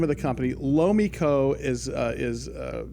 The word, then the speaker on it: Lomiko: chance to cover them for a while it's low Miko is the name of the company Lowe Miko is is spelled LOM i KO lo Miko metals it's